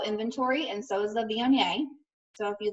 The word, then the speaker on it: Viognier: And it's spelled V-I-O-G-N-I-E-R.